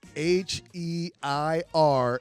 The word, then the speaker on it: Heir: Instagram name is H-E-I-R, and then my last name, which is. Right. So if you don't know how to pronounce that, it is heir, like a heir to the throne.